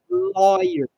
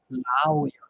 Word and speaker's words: lawyer: all right pronunciation here lawyer lawyer okay don't say La anything like that the pronation is lawyer this a sounds like like lawyer lawyer and uh how about